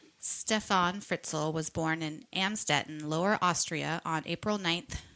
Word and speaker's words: Amstetten: Amstetten, and I just looked up how to pronounce that in here. You hear it? Oh. Amstetten.